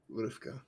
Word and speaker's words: Rivka: Rivka. Okay. Yeah. I guess that second I is silent.